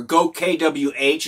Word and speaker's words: GoKWH: Okay, so the battery that I'm going to be showing you here is made by Go Kilowatt Hour, or Go KWH is how they pronounce the name.